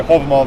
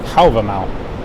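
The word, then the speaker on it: Hávamál: I used to say Halvamal. That's the Old Norse pronunciation, but in modern Icelandic, Halvamal. Halvamau.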